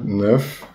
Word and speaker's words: Knuth: Dessa semana, saiu na revista Quanta Magazine, uma foto do Donald Knuth, ou Donald K. Knuth. Aqui no Ceará a gente chama de Knut mesmo, pronúncia mais fácil.